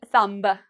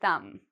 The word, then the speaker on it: thumb: So we don't say thumb. No, we say thumb.